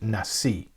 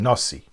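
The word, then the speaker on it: נשיא: gave to the president, which is Nasi, or in the Ashkenazic pronunciation, Nasi.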